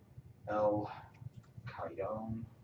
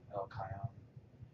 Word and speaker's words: El Cajon: PN There- Tanks has operational facilities in El Cajon, California. I think a J is pronounced like an H in Spanish, right? El Cajon, California.